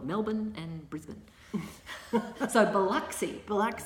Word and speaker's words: Melbourne: yeah Melbourne and Brisbane even though it's spelt and it looks like on paper Brisbane and it looks like it's Mel born yeah we call it Melbourne and that's a Biloxi